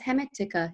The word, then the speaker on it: Hermetica: No, it's Hermetica.